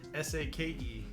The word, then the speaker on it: sake: work on which is i'm gonna do a sake set and then and then i'm gonna do